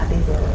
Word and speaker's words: Adegboro: I hope I pronounced that well. No. Okay. It's Adegboro.